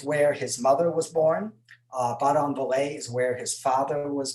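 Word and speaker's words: Badonviller: In big letters, I have Baudon-Vallée, and I'm pretty sure that's pretty close to how it's pronounced. I asked a couple of French speakers. So, and then there's Senones. Baudon-Vallée, that is where Messier was born.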